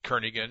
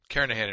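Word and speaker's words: Kernighan: will be using the kernigan and Richie or Kahan I should say the g is silent karahan and Richie C programming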